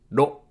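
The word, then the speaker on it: の: and a few angles pronounced like a combination of row in row Code and low in load in British English it's more like Row in rot or low in long no again just repeat after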